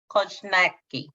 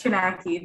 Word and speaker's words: Kochnacki: And the next presenter is Kochnacki. Thank you, Vanessa, for trying. It's Chinaki. Just pretend, pretend that J is silent.